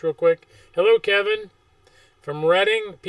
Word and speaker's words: Reading: Hello Kevin from Reading, PA. You pronounce it reading, right? Re D I N G. Not reading. Re e D I N G.